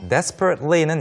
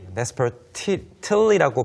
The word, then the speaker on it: desperately: 없었지만 but I still desperately는 이제 desperate라고 하는 것의 부사 형태입니다. desperate 하면 절박한. Yes. desperately라고 발음을 해도 되고 여기에서처럼 desperately Yeah. T 발음이 안 돼도 괜찮습니다. 많은 사람들이 T 발음을 하지 않죠.